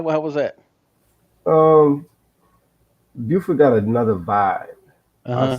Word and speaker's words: Beaufort: So yeah, so yeah, tell me about growing up in Buford, man. How was that? Um, Beaufort got another vibe.